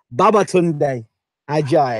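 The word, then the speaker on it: Babatunde Ajayi: Baba Tunde Ajayi.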